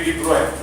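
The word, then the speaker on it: de Broglie: Louis डी ब्रोगली, इसको हम बोलेंगे, प्रोनाउंसिएशन क्या होगी, लुई डी ब्रोय, ठीक है।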